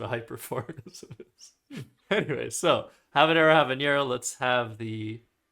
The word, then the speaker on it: habanero: origin, but mispronounce using the language of origin's pronunciations just falsely. I think that's what a hyperforeignism is. Anyway, so habanero habanero, let's have the sound play for everybody watching.